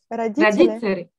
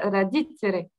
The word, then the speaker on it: родители: Alors, c'est marrant parce que tu vois, le D, tu prononces plus comme un T en fait, qu'un D, tu vois.